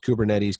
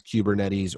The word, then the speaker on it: Kubernetes: it beneficial and production hardened and reliable it's pronounced kubernetes kubernetes or you can see it with a k